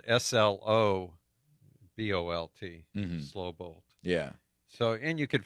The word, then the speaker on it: Slobolt: And it's spelled SLOBOLT, slow bolt.